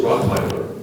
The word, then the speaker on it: Rottweiler: Your word is Rottweiler. Rottweiler. Rottweiler. Are there any alternate pronunciations?